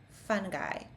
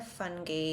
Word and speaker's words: fungi: Fungi. It is also plural. Sometimes it's pronounced as fungi or fungi in British English, but in American English it's pronounced fungi.